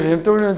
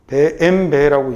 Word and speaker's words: BMW: 참고로 근데 BMW는 틀린 말입니다. 예, 뭐라고 읽어야 되죠? 엠베라고 읽습니다.